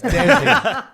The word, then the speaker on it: Desi: small care Daisy community who he said Desi Community oh got you with the pron America pronounce it right it's Desi it's the daisy Community we don't care about